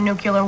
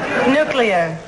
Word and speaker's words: nuclear: decide to have a nuclear war. Nuclear. Nuclear. No, no, new. New. Clee. Clee-er. When they zap you into cosmic dust, nobody's gonna nail you for your pronunciation.